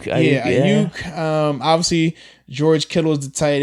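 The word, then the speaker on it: Aiyuk: Ayuk. Ayuk.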